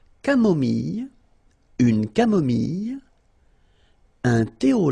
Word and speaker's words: camomille: So remember when we get this E and then double L, it goes like Y, Y. Mille, mille, camomille.